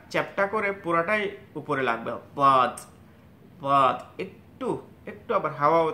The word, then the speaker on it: ضاد: দাঁতের গোড়ায় লাগবে ضاد, আর এখানে ضاد বলার সময় এটাকে পুরো চ্যাপ্টা করে জিহ্বার আগাটা চ্যাপ্টা করে পুরোটাই উপরে লাগবে ضاد ضاد, একটু একটু আবার হাওয়াও থাকবে ওখানে, একটু একটু খোলাও থাকবে।